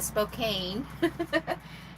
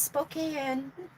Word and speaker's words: Spokane: I was saying Spokane and then somebody was like, "Oh, it's Spokane." The E is silent.